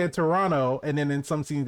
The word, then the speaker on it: Toronto: no one pronounces if if you pronounce the second t in toronto you know you're not from toronto yeah and when you